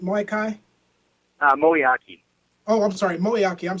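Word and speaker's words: Moeaki: that just happened though with tight end Tony moai am I pronouncing his name right moai uh moak oh I'm sorry moak I'm sorry for for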